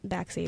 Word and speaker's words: Baxi: Macy Baxi, B as in boy, A-X-I. Macy Baxi is technically how people pronounce it.